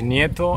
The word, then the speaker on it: Nieto: Luigi that's correct no the last name is NATO and the other last